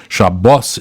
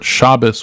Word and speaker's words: Shabbos: Yiddish word for it shabos is probably the Hebrew word for it shabas with the uh right it all depends on what the accent on the right Sal and so it really depends and so um I'm